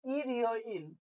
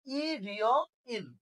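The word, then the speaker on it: 일요일: তাহলে ইরিয় ইল উচ্চারণ হয়ে যাবে রবিবার। কি হয়ে যাবে? রবিবার। তাহলে এই যে রিউলটা কি উপরে চলে যাবে ইয়র মধ্যে, তাই না? তাহলে উচ্চারণ হয়ে যাবে ইরিয় ইল।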